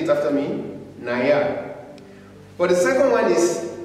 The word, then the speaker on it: naja: If you look at it very well, this alphabet is pronounced like a Y. Naya.